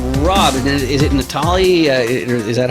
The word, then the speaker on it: Natale: joined today with Rob and it is it Natalie is that how you pronounce it yeah actually that that is correct